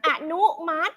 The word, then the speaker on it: อนุมัติ: อิ ไม่ ออก เสียง อนุมัติ สระ อิ ไม่ ออก เสียง นะ คะ สามารถ สามารถ